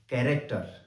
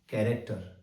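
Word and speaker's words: character: अगला वर्ड है कैरेक्टर। सी एच ए आर ए सी टी ई आर कैरेक्टर और अगला शब्द है chaos C एच ए ओ S chaos ये तीनों शब्द और अन्य वो सारे के सारे शब्द जिसमें सी एच कै की ध्वनि देता है ये ग्रीक ओरिजिन के है यानी ग्रीक भाषा से इंग्लिश भाषा में आए हैं।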